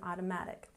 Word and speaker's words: automatic: So no, she can only drive an automatic. Now let's take a look at the phonetic transcription. Manual. We stress the first syllable. Manual. Manual. Good. And automatic. We emphasize the third syllable here. Automatic.